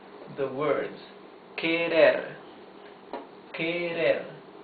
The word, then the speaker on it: querer: Try to pronounce the words querer, querer. You see that the R is the soft sound of the R because it's not at the beginning of the word and because it is not doubled.